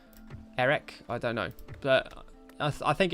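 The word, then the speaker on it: Erech: someone's pointed out that shouldn't the CH be pronounces like a case it should be a wreck Eric I don't know I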